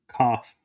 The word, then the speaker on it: Kopf: So my last name is actually pronounced as it sounds, Kopf.